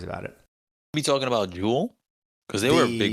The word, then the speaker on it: Juul: I think that's yeah that's Jewel you got to put more emphasis on the second you not Jewel sing not repeat that one